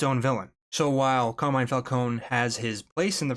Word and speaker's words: Falcone: the list with Carmine Falcone from Batman Begins. I'm going to be using that pronunciation because that is the pronunciation that is used in the film. While the newer Batman continuity uses Falconee.